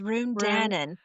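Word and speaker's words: Ruhn Danaan: Run how do you say his name it's Run Danon crown prince of the Balbar in yeah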